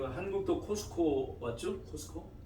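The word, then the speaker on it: Costco: 그 한국도 코스코 맞죠? 코스코? 예. 코스트코라고 하는데 T자 발음하는 거 아니에요. 그냥 코스코. 미국 사람 카스코 그러니까 카스코. 여러분들 코스트코 그러면 못 알아들어요. 그러니까 카스코, 코스코.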